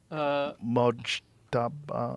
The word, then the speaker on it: Mojtaba: Mojtaba. How do you say it? Mujtaba Khomeini.